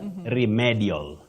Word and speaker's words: remedial: commonly hear locally is remedial medal no that e takes the long high front sound e REM remedial not remedial